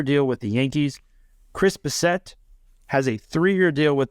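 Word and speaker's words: Bassitt: right or is it Bassett? How did It's Bassett, like the Hound.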